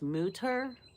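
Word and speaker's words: Mütter: And um, okay, so it's pronounced Mutter, and it's the College of Physicians.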